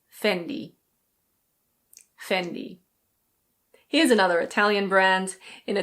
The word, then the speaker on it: Fendi: Here we have another Italian label and in Italian it's pronounced Fendi. Fendi. In English it's very similar. We say Fendi.